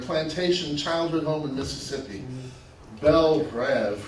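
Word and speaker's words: Belle Reve: childhood home in Mississippi Belle bread which she pronounces Belle Reed was lost so she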